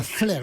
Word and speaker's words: Flers: se prononce pas, monsieur Apathy. À Flers, oui, vous savez, moi je prononce un peu Mais il toutes n'y a les pas de lettres.